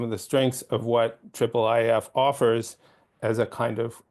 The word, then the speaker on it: IIIF: the triplef um pronunciation it is triple if it is not I if as I've heard many times it's not I I nor II um so anybody in